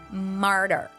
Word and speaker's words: martyr: lot is called a martyr. Just like the word tartar, it is a bit challenging to pronounce, but we can practice it together. So the T sound is pronounced as the here. Martyr.